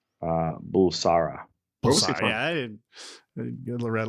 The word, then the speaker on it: Bulsara: It's like Farouk Barsula. Is that what it is? Is that close? Yeah, it's Farouk Bulsara.